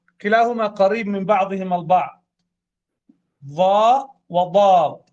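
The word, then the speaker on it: ظاء: وأيضا تتشابه الضاء في النطق مع الثاء من ناحية خروج اللسان، تسمى الحروف اللثوية. ثاء ضاء، ثاء ضاء ذال، ثاء ضاء ذال، ثاء ذال ضاء. نفرق ونستشعر الفرق حين النطق، والجميع ينطق وهو جالس الآن ويفرق. ضاء ضاء، وهذا تاء تاء، هذه فيها رقة وهذه فيها رقة، لكن هذا فيه ضخامة وفخامة، ويسمى من حروف التفخيم.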